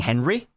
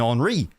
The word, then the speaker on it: Henry: He's saying Henry? I don't think you are. I think you're saying Henri, which is the French.